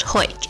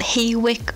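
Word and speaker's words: Hawick: work is located in Hoyt that's right it's pronounced Hoyt and not hey WIC our house quake is a relatively small town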